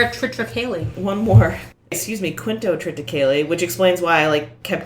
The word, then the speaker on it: quintotriticale: Excuse me, Quintotriticale, which explains why I kept not understanding what the fuck they were saying.